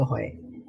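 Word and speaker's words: ح: মধ্য মানে হলকের মধ্যখান একটু স্ট্রেস দিতে হয় একটু চাপ দিতে হয় চাপ দিয়ে উচ্চারণ করতে হয় হা স্বাভাবিকভাবে আমরা যেভাবে বাংলায় হা বলি বা হ উচ্চারণ করি সেইভাবে নয় সেখান থেকে আরেকটু চাপ দিয়ে হা উচ্চারণ করতে হবে হা তো হা এর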